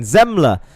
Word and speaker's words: Zemler: your top 12 Martin zemler sorry I read his name wrong earlier it's zemler for DRT Destiny racing team